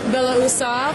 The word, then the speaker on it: Beloussov: today I'm speaking with the parallel CEO Sergey Bella usov who we've laughed a little bit about my lack of ability to pronounce his last name Sergey how are you